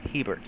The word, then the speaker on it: Hebert: Hebert yeah thanks Le at least you didn't say Herbert that's usually what I get oh